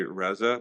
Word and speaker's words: Reza: I attempted to use the phonetic spelling of instead of e, so people would know to say Reza, but now they spell it REHZA.